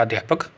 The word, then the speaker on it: अध्यापकः: हिंदी में आप शिक्षक या अध्यापक इस प्रकार से इसका उच्चारण करते हैं और संस्कृत में अध्यापकः।